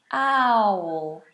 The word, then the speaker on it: owl: Owl, owl, owl, owl, owl, owl. You've got that dark L, owl.